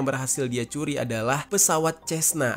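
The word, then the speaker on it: Cessna: Dan pesawat pertama yang berhasil dia curi adalah pesawat Cesna atau Kesna gitu ya bacanya.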